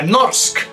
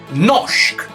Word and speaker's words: norsk: la siguiente combinación r esta combinación se suele pronunciar con una sh por ejemplo esta palabra no se pronuncia norsk se pronuncia nok y luego tenemos la